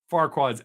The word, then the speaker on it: Farquaad: that the writers use why that name is there it's actually something nasty but they got a way saying that by pronouncing it that way it's actually that word that I say a lot that ruins my monetization and wad so put those two words together and that's how far quads actually pronounced I like